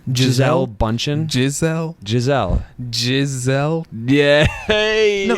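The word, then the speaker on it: Gisele Bündchen: bundchen i think it's i think it's pronounced just like the animal no it's not gazelle bundchen it's not it's not gazelle it's giselle is there any other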